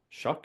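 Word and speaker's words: Shough: Tyler Show out of Louisville Shuck. Shuck. Is that how you say it?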